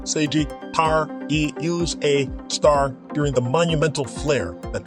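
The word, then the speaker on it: Sagittarius A*: of our galaxy known as Sagittarius pronounced Sagittarius pronounced seiji tar e use a star during the Monumental flare that transpired in 2013.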